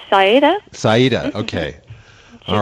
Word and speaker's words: Sereda: Yeah, the producer's name is, I'm not sure if I can pronounce this correctly. It's Sereda Medvedeva? Yes, it's Sereda. Sereda, okay.